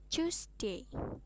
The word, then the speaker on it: Tuesday: di sini pak Putri kalau Selasa itu tulisannya kan tuest bacanya Tuesday jadi t-nya ini kayak seolah-olah berubah jadi C tapi enggak terlalu C banget sih jadi Tuesday Terus kalau Kamis itu